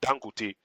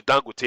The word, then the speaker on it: Dangote: You hear it, Dangote, and you're like, okay, Dangote, with some kind of phonetic and with some, inflection going up. We know that that's not the pronunciation of the word, but then again, the